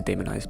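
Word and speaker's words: daemonized: demonized demonized whatever um I'll just say demonized because it's spelled D A E not d e m o n d a e m o n um so when it's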